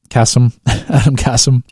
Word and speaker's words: Adam Kassam: Adam Kassam. That is how you pronounce his name.